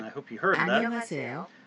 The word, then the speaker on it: 안녕하세요: When it's in this first position over here, it's silent.